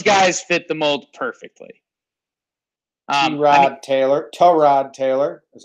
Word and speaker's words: Tyrod Taylor: Tyrod Taylor is how you pronounce it.